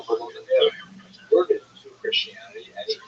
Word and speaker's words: Volodymyr: What's especially important in its history is the version of one of its leaders, Volodymyr, pronounced in Russian Vladimir, shown here in a statue overlooking the Dnipro River that runs through the middle of Kiev. Volodymyr made a decision to convert to Christianity.